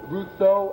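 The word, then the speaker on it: Rousseau: of the social contract rhymes with a bride's outfit Russo and trusso Russo rhymes with tusso there wait wait wait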